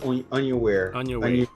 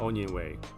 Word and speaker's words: Onyenwere: Michaela Onyenwere. Onyenwere? Mm-hmm. Onyenwere.